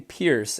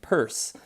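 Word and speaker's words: Peirce: series by Lincoln and I was always saying Lincoln Pierce and actually it's come to my attention and I believe he pronounces his last name purse so Lincoln purse I hope I'm saying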